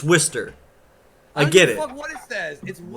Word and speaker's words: Worcester: that it's spelled Worchester I get that it's spelled that but it's Worster I get it [